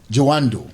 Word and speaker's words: Jawandor: Jawandor. Yeah. Oh, Jawandor. Jawandor, like the door.